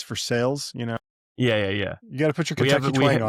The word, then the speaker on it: Versailles: Just like here in Kentucky, it's not Versel. Versailles. It's for sales, you know.